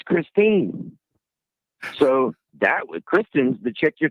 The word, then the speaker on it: Kristine: You didn't even say her name right. You kept saying Kristen, and her name's Kristine.